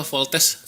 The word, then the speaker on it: Voltes: Voltus dulu. Voltus. Voltus dulu. Itu bacanya voltus apa? Voltes. Voltes. Voltes. Bacanya voltes ya.